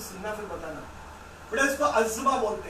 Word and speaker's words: asthma: इसे अस्थमा को, ये प्रोनाउंसिएशन अस्थमा बिल्कुल गलत है। Is wrong, completely wrong. इसका 2 ही लाइन का प्रोनाउंसिएशन है, अज़मा।